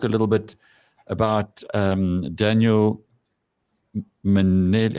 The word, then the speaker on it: Mminele: Corky's going to talk a little bit about Daniel Manele. How do you pronounce his surname? Manele. Manele. Yeah. Yeah. But let me. Should I call him? Okay. Minele. Ehe. Minele.